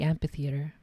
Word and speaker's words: amphitheater: amphitheater I I always I think I pronounced the p in Amphitheater as opposed to the pH I guess we'll do we'll do the pH since that's technically how it's supposed to be pronounced Dr Halsey stood on